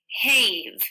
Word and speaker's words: have: But in this word, the A says a, and the B says v, and the E is silent. We don't change the A to the long sound.